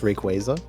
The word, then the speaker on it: Rayquaza: Uh, actually it's pronounced Rayquaza.